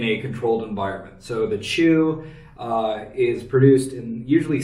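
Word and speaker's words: qū: So, all of these and all uh Chinese alcohol generally use something called chew uh which is spelled quu.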